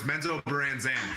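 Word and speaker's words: Menzoberranzan: No, it's Menzo Branzan, and it's the Bainrays.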